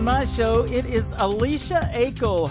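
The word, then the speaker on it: Aichelle: It is Alicia Akel. Her last name Akel is spelled A-I-C-H-E-L-L-E.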